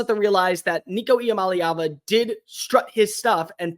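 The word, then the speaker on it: Iamaleava: and not in the postseason next up Nico yam malava that's how you say his name don't miscorpion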